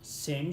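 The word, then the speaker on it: ث: You need to be your tongue you need to be put of between of your both teeth, up and down teeth, and then you pronounce of this word sa.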